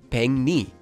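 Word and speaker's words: 백리: For example, in this word, pek ends with a kiok, and the next syllable, li, starts with a lir. So here, the kiok at the bottom will change to become an iang, and the lir at the start of the next syllable will become a nian. When we make these changes, we get peng and ni, or together, peng ni.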